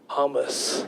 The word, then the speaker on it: hummus: Because I was at a friend's house the other day and she was having hummus, and this is how we pronounce it, hummus.